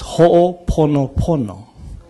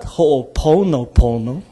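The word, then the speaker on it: Hoʻoponopono: And it's Ho'oponopono. It is not Ho'oponopono. It's Pono. Yeah? It's Ho'oponopono. Not Pono. Yeah?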